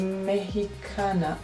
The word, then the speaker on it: Mexicana: After we've added shade Chocolate, I'm gonna take this shade right here called Mexicana. Actually, that's how you pronounce it in Spanish.